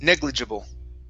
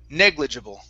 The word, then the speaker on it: negligible: this word here negligible negligible negligible okay stress at the beginning negligible negligible there you go